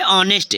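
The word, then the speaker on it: honest: घंटे ठीक है नेक्स्ट है ऑनेस्ट क्या है ऑनेस्ट एच ओ एन ई एस टी ऑनेस्ट ऑनेस्ट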